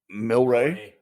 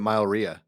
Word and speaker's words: Mylrea: Was it Myl? Yeah. Rea. Milray. Good for you. Did you see? That's exactly. Most people pronounce it Mylrea.